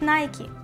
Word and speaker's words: Nike: Але беззаперечним є те, що в Америці звучить Nike. Це ім'я запозичили у грецької богині перемоги, яка в нас зветься Ніка. They killed each other for Nike?